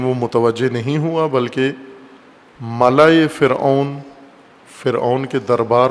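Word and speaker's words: ملأ: ملا ملاح نہیں ہے، بعض غلط تلفظ کرتے ہیں. ملا، میم لام الف حمزہ، ملا. جیسے خلا ہوتا ہے، خلا، غلط تلفظ خلا کرتے ہیں اردو میں، یا اردو سے ملتی جلتی زبانوں میں خلا نہیں ہوتا، خلا، اور اسی وزن پر ہے ملا.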